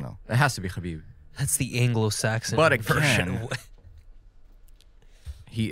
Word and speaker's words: Khabib: that i'm gonna source well that's the that's a like white american version it's it's khabib it's it has to be it's kami i don't know it has to be khabib that's the anglo-saxon version